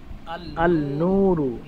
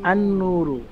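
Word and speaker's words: النور: আলিফ লাম যোগ করি তাহলে কি শব্দটা এভাবে উচ্চারণ করলে শুদ্ধ হবে যে আল নুরু নাকি আন নুরু কোনটা হবে আনুরু আনুর যেমন এখানে এখানে দেখতে পাচ্ছি এখানে আছে নুন আছে এই সমস্ত হরফ গুলোর শুরুতে আলিফ লাম যোগ হলে লামের উচ্চারণটা আসে না আসে না তখন তাহলে আল নূর বলাটা হচ্ছে বোকামি এবং সে মূর্খতা মানে এক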